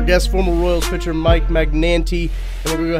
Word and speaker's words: Magnante: He just said three syllables. My grandmother, the correct way to say it is Magnante.